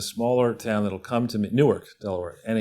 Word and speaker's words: Newark: town that'll come to newark delaware and it's pronounced new ark down there and when i was